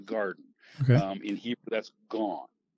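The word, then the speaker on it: גן: In Hebrew, that's gone. You would spell that in English, G-A-N, gone. Okay. A has an ah sound in Hebrew.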